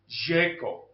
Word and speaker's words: Željko: There's a guy, a guru of prepping, so to speak, called Selko. I think it's actually supposed to be pronounced Željko, from Yugoslavia, who was